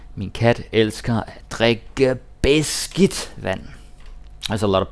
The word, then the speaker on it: beskidt: And the D is silent. It's not beskidt. It's beskidt.